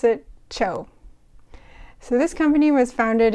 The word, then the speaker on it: TCHO: So this company is the phonetic spelling of the first syllable of chocolate, and so you pronounce it CHO.